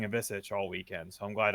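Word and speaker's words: Ivišić: And I'm glad you said it because I was saying Ivisic all weekend, so I'm glad I didn't have to sound silly. You said Ivisic is how we're pronouncing it. It's the I Croatian.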